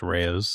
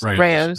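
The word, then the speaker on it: Rao's: I think it's Rayo's. Rayo's.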